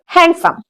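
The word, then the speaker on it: handsome: हाँ, लेकिन वहां पे डी साइलेंट होता है, हम डी नहीं, हैंडसम नहीं बोलते, हैंडसम बोलते हैं।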